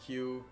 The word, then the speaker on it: queue: And it's pronounced Q, even though it's Q-U-E-U-E, which you would think would be like Q-U-E. But no, you just pronounce it Q.